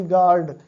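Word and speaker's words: guard: जैसे जी यू ए आर डी, गार्ड। अब देखिए जी ए आर डी गार्ड होना चाहिए, लेकिन जी यू ए आर डी, चूंकि यू जो है ये साइलेंट में है।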